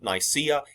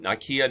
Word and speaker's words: Nicaea: A lot of people pronounce it Nicaea. Either one is fine. Nicaea, Nicaea, whichever one you want to pronounce.